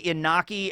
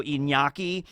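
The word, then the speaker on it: Iñaki: his name correctly right I used to say inaki and then somebody that was actually Spanish said it's actually more of like a Nia so inyaki and I just hope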